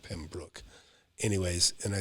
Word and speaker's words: Pembroke: town called pembroke pembroke it's spelled pembroke but they call it pembroke anyways and i said